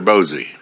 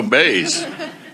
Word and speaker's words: Bays: Next on the list, we have, is it Bose or Bosey? Oh, Bays.